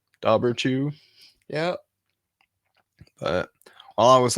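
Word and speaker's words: Dobhar-chú: right that's weird well it's spelled uh d-o-h-b-a-r and then Dash c-h-u so Dober two dauberchoo yeah but while I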